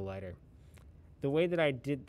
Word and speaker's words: Laigter: is a program called lighter it's spelled in a really funny way l a i g t e r lighter and the way that